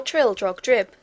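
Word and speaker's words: Trildrogdrib: tr drag dub or Trill drog drip for it is pronounced both ways as near as I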